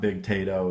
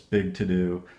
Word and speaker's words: Big To Do: It's not Big Tato, it's Big To Do.